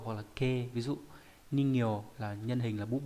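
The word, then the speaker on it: 人形: Âm ghép đọc là gyo hoặc là ke. Ví dụ ningyo là nhân hình, là búp bê.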